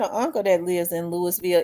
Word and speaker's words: Louisville: gun to kill his hater shout out to Louisville I got an uncle that lives in Louisville it's always cold in Louisville I know they